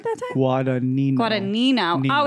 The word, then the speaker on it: Guadagnino: Guadagnino. Guadagnino. Oh, it's like Finding Nino. Finding Nino. Think about that. And Guada. Guada Finding Nino. Guadagnino. You know what? It's really that extra syllable that they snuck in there.